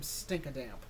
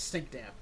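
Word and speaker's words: Stinkdamp: Also, by the way, I'm redoing this video because I've been mispronouncing his name. I keep calling him Stinkadamp. It's just Stink Damp.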